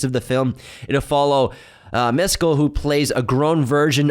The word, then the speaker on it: Mescal: Paul Mescal was cast. Paul Mescal, sorry. Yeah, don't say it like mezcal.